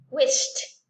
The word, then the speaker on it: wished: No es de wish, no es así, sino es wish y la T junta. Wished, wished.